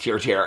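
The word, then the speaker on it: TIRTIR: tier which is ti ti um and it's pronounced tier tier has been getting a lot of publicity lately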